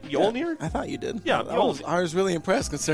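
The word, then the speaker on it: Mjölnir: inch Rubik replica of mjolnir yes Thor's hammer technically I'm not pronouncing that right yolnir I thought you did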